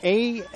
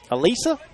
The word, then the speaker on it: Alyssa: the name of, well, it's spelled A-L-Y-S-S-A. Think about that for a moment. A-L-Y-S-S-A. How would you pronounce? Alisa? Alyssa? Yes, I've heard both. A-L-Y-S-S-A, but I've also heard this past May at a high school softball state tournament, it was pronounced Eliza. Same spelling, pronounced 3 different ways.